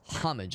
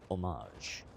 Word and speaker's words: homage: Never heard it pronounced as homage. I've always heard it as homage. A softer H.